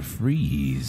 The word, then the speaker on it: Fries: AKA Victor Freeze, but it's not spelled Freeze. It's F-R-I-E-S. It's Fries. Victor Fries.